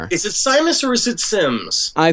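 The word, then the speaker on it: Symmes: I think his then you probably would pronounce it John Cleave. Sims Jun.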